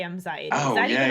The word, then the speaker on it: Mxiety: Mxiety, like anxiety with Mxiety.